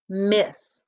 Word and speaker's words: miss: Okay, number 2, we have the word it's miss. Remember, the 2 S's don't make 2 sounds, just one sound at the end.